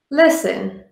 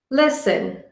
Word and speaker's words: listen: have a silent t t is silent when it follows an F or an s in a word some examples are castle castle I built a sand castle listen listen I enjoy listening to